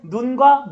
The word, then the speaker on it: 눈: 하늘에서 내리는 눈이 길어요. 그리고 사람 눈이 짧습니다.